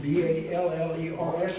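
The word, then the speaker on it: Ballerz: Just like Ballers, B-A-L-L-E-R-S, but with a Z.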